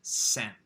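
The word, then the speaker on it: 千: chi she pronounced it the japanese pronunciation which is sin she is a chinese pronunciation it's sin is the japanese so she said that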